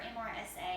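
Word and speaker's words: MRSA: example of this is Mera or MSA I've heard it pronounced both ways I'm just going to call it Mera what that is is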